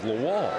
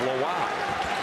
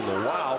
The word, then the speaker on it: Lawal: line at Virginia Commonwealth Toby was referred to as lawall Brian Cox their F basketball sports information contact Dan when Toby came to Virginia Tech they were confirming pronunciation he said it's laow so those of you who followed the Rams knew him as Toby laal he is Toby laow because that's the way he prefers the pronunciation and we're happy to